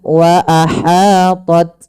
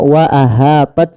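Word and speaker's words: وَأَحَاطَتْ: Hati-hati dalam melafalkan ha kecil jangan dibaca wa ahaat bih. Tapi wa ahat wa ahat ya. Kemudian ketika melafalkan ta ini hati-hati jangan dibaca dengan sin misalnya wa aha th banyak sekali dikit saja wa ah bih.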